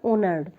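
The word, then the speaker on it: honoured: ये इसमें क्या है ना एच साइलेंट रहता है इसलिए इसको पढ़ते हैं ऑनर्ड the courtiers who हैड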